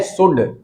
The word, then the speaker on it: should: यह है SHOULD, शुड है, शुल्ड है। अरे शुल्ड तो नहीं बोलते हो कहीं से, ये एल है, ये साइलेंट है इसमें, इसको बोलते हैं शुड।